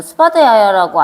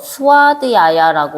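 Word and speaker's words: svādhyāya: 세 번째 줄 보면은 스바드 야야는 이라고 나와 있는데, 이거를 이제 요가에서는 스바드 야야라고 안 읽고 V를 묵음 처리하면서 스와드 야야라고 원래 있거든요.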